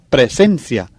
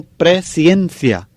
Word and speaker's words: presciencia: Fíjense muy bien en la pronunciación de la palabra. No es presencia, sino presencia.